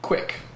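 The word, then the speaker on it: Qik: be on your device, is called Quick. It's spelled Q-I-K.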